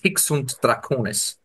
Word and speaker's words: Hic Svnt Dracones: It's nobody's native tongue anymore. It's Latin, and I mean, there's different ways, I guess, depending on which side of the world you're from. With me, being a German native speaker, we would usually pronounce it Hic Svnt Dracones. So, That- translating to "Here be dragons."